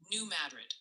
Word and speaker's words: New Madrid: Multiple viewers are suggesting it's Mina, Arkansas, New Madrid, Missouri, and Oan County TN. Keep dodging those tricky names.